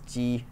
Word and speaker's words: 击: Okay, so in Taiwanese Mandarin, it's 点击率. It's pronounced in the second tone, and in mainland China, it's pronounced as ji, the first tone.